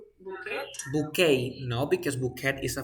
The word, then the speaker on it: bouquet: is a French word you say boo bouquet no because bouquet is a French word you